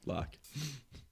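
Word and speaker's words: Locke: hand-to-hand cart hand-hit combat that's just lock that is how it's spelled but yeah no but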